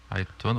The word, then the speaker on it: Aïtoun: Aïtoun, oui, c'est vrai, le A se dit pas. Le A ne se prononce pas, oui.